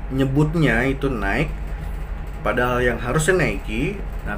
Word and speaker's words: Nike: merek-merek ini Nike Nike Jadi bukan naik tapi Nike dibacanya Oke kemudian Oh ya